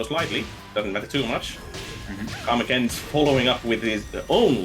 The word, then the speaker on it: Karmakins: Is it Karmakins, or did I mispronounce it? Kamakens.